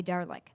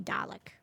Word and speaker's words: Dalek: Do you say Dalek or do you say Darlik? I say Dalek. You've heard people say it the other way, though, Yes. right? Yeah. Yeah. There's no R in it.